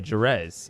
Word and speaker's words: Jerez: Danny is very surprised that I pronounced my name with the hard J, Jerez, instead of the Latin pronunciation.